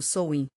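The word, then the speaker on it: Samhain: O primeiro desses festivais significativos, Samain, pronunciado Souin, caiu por volta de 31 de outubro, marcando o fim da estação da colheita e o início do inverno.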